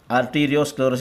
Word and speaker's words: Arteriosclerosis: Arteriosclerosis is the correct pronunciation.